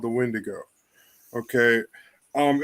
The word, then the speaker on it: wendigo: the wendigo okay um it's got a couple different ways you can spell it pronounce it and everything um in the southwest it's when Diego or when when daggio um up here in the Midwest we call a wendigo form and then over